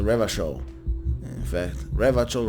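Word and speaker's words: Revachol: he raped their capo so ravichow is pronounced the river show in fact rev a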